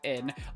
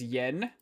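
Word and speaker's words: 円: And that is read as N. For the longest time, because of the way it's spelled in English, I'm pretty sure most people think this who don't know anything about Japanese, that it was actually pronounced as yen.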